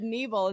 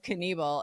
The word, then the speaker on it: Knievel: He said Knievel instead of Knievel.